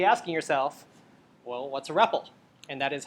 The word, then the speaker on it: REPL: you're being me asking yourself well what's a rebel and that is how you pronounce rebel by the way you probably if you use